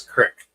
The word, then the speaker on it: crick: Woke up with a creak in my neck. Yeah, it's not fun. Not at all. Jim, what's up? I guess I said it wrong. It's crick. Creek. Creek's got water in it.